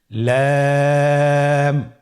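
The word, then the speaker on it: لام: লাম হরফটি উচ্চারণের ক্ষেত্রে অবশ্যই বারিক হবে এবং 3 আলিফ টেনে পড়তে হবে। আপনারা আমার সাথে বলুন লাম। লাম হরফটির মাখরাজ হলো জিহ্বার আগার কিনারা উপরের দাঁতের মাড়ির সঙ্গে লাগিয়ে উচ্চারিত হয়।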